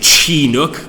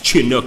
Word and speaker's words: Chinook: And I wasn't saying Chinook. Good God, it's Chinuk. I'm fairly sure it's Chinuk.